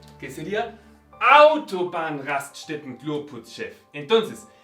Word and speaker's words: Autobahn: En la primera sílaba, que sería Autobahn, Raststätten, Klo, Putz, Chef. Entonces, no importa cuántas sílabas tiene una palabra en alemán, si es una palabra normal, una palabra compuesta, siempre se pronuncia en la primera sílaba.